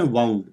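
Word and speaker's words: wound: a chain of loops ये जो वर्ड है ना वाउंड ये जब लगी होती है ना आपको तो उसको वंड बोलते हैं लेकिन जब आप कुछ ऐसे लपेट हैं ना गोलगोल तो उसको प्रोनाउंस करते हैं वाउंड इंग्लिश आपको पता है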